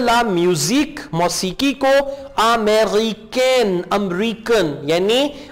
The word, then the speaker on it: américaine: E के ऊपर जो accent mark है ये cafe वाला accent है. इसको आपने A pronounce करना है. American.